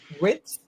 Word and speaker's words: Wirtz: I said, anytime you see with how do you pronounce his name? Wirtz? Oh, Verts? Verts.